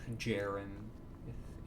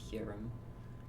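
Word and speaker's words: Hjerim: I need to start doing Storm Club quests so that I can unlock Hum or Jarim if you want to pronounce it that way. But I I go Humm uh because Humm has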